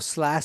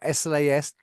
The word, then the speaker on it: SLAS: laboratory Automation and screening or SL or slas depending on how you want to pronounce it and I'm to joined